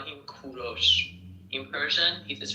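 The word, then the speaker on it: کوروش: English people call him Cyrus, but in Persian we call him Kuros. In Persian, it is pronounced Kuros, but in English you call them call him Cyrus.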